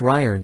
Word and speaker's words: Gijón: Artists and actors gather at Gijón, pronounced Ryern, in Paseo de Castellana.